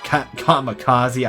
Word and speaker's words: kamikaze: Kamikaze, I'm not used to pronouncing it wrong. Not wrong. Pronouncing it the Western way now.